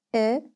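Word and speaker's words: 의: attached to the processor note that ui is pronounced as e when it is not part of a stem but of the possessive particle this is jack's transport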